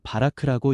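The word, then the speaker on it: בָּרַךְ: 여기서 복이라는 히브리어 단어는 바라크라고 읽습니다.이는 은혜로 채우고 능력을 부어 생명을 자하게 하시는 하나님의 주도적 축복을 뜻합니다.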